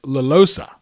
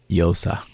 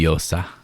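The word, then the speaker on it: Llosa: You just don't pronounce one of the L's. Yosa. Losa? In Spanish, the two L's make a Y sound. Fuck's Luis sake. Yosa.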